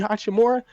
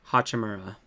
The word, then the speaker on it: Hachimura: and Rui Hachimura, the wizard guy.